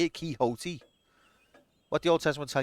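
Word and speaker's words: Quixote: titles apart from an ancient edition of Don kote that's how you say that's how you say it kote what the Old Testament tell you B your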